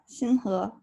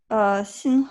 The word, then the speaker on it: Xinhe: Uh, Yeah, there's also a tone thing. Yeah, you were telling us that also, like the second syllable, the inflection has to be a rising inflection because you could say it other Yeah, ways and it means something very different.